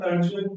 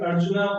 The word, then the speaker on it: Arjuna: So he is removing the ach actually, the ending ach, and But usually pronouncing Arjun, we say Krishna Arjun, the name. And we are not speaking the Sanskrit verses. In Sanskrit verses, I read Arjuna Uvacha or the person's name Bhima.